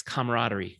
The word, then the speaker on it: camaraderie: consistent okay number six camaraderie camaraderie camaraderie i have to train myself to say it correctly because i would want to take out one syllable camaraderie is mutual trust